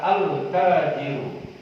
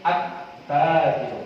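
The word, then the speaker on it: التّاجِرُ: sampai Nun lihat ya jadi cara membacanya tidak dibaca alnya tidak dibaca altajiru Salah cara bacanya altajiru Tapi attajiru paham ya sama-sama kita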